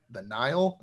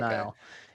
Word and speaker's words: Nihil: close out part 1 kind of introduces the Nile. Is that how they're Yes, pronounced? the Okay. Nile.